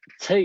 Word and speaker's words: che: So then Che is pronounced with the same long vowel sound as make, means word, and refer